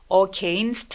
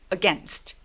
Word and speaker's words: against: 그리고 이거 발음할 때 again이라고 발음하시는 분들 많은데요. against 아니고 again, again, against 이렇게 발음해 주세요. 같이 소리 내볼까요? Against, against